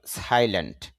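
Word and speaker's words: silent: সাইলেন্ট, এখানে চাপ দিতে হবে, সাইলেন্ট শান্ত বা নীরব।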